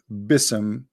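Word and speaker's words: بسم: Yet Allah he do not know how to pronounce the word Bism. The word Bi-ism became Bism. In Arabic, we don't have bism, we have bi'ism.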